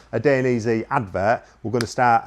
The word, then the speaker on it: Dainese: And for me, Dainese, there'll definitely be some criticism of the pronunciation. Dainese. That's how I've always said it.